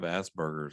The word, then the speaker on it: Asperger's: you know sometimes i think i have asperger's i'm not trying to be funny here sometimes